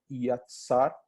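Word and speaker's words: יָצַר: O homem foi criado, foi moldado, o verbo utilizado lá no texto bíblico é yatsar, tá? É assim que se pronuncia essa palavrinha hebraica aí, do pó da terra, está lá em Gênesis 1, 21.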